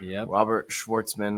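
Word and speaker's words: Robert Shwartzman: The rookie pole sitter, Robert Schwarzman, I believe is how you say it.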